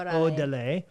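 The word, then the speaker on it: Órale: Is it O-R or O-D? It looks like O-R-A-L-E. Yeah, so it's pronounced Odele. Orale.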